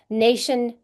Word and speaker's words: nation: but it sounds different nation national nation has a long a national has a a